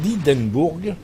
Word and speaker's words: Hindenburg: Captain Koniam et son Hindenburg, enfin son Hindenburg, on va le prononcer à l'allemande, hein.